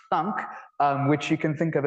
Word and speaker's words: thunk: And then a collection of morphisms, which are pronounced thunk, which you can think of as sending a value to the trivial kind of computation that does nothing on that value.